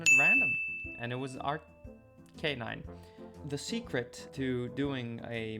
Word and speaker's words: Arcanine: according to my research, Arcanine is a combination of the words arcane and canine, which really implies that it should be pronounced arcanine.